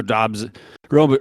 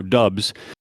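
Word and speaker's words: Doubs: saying since it happened romeo dobbs i'm sorry i pronounced it wrong it's romeo dubs is going to be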